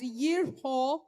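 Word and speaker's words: יריחו: In Hebrew, Jericho is pronounced or called out as yerho, which means a good fragrance or fragrance.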